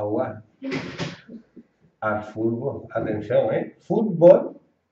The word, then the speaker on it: fútbol: Fútbol viene de foot, que es pie, y bol, que es pelota. La pronunciación aquí es fútbol.